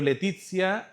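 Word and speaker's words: laetitia: Pero Letizia viene de la la, bueno, se pronuncia a e en latín e letizia que significa alegría.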